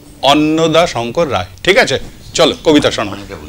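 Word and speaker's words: অন্নদাশঙ্কর রায়: না, রটা নেই, অন্নদা, অন্নদা শঙ্কর রায়।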